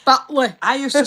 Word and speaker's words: Batley: Batley. That's how you pronounce it. Batley.